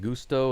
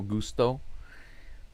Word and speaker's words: Gusto: saying, Brian Gusto, and you're saying it's pronounced like Gusto, and that's what I was saying originally because, you know, mucho gusto. But the commentators have been calling him Gusto this whole time for every game. And so I'm just going on what they're saying. The Astros commentators are calling him Gusto. Because I'm well aware that typically Gusto is pronounced like in the Spanish way. Like mucho, like you said, mucho gusto.